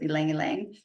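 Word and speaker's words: ylang-ylang: And then ylang ylang, or depending on how people want to pronounce it, I pronounce it ylang ylang just because I think it sounds fun that way.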